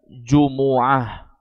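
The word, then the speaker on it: جُمُعَة: Itu sudah ditetapkan oleh Nabi SAW, membacanya jumu'ah dengan didhammah.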